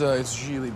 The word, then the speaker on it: Gigli: It's Gigli, by the way. What? My name is pronounced Gigli. It rhymes with really.